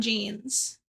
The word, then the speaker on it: Jean: Is it like John Benet Ramsey, or is it like Jean, like denim jeans? Anyway, it's bedtime for us. Jean like jeans.